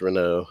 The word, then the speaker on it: Renault: but that is that is correct it is pronounced Renault I always forget that though we are French